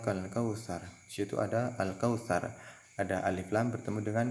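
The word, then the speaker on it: الكوثر: Yang al-kautsar bukan ak-kautsar tapi al-kautsar. Nah, karena dibaca jelas sehingga sering disebut dengan idhar qamariyah.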